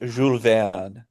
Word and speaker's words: Jules Verne: It's only correct if you pronounce it correctly. It's Jules Verne.